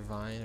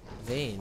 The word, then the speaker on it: Vayne: Vayne trying to be sneaky or Vine or whatever. Vayne. Vayne, right? Yeah. I thought I'd been saying it wrong.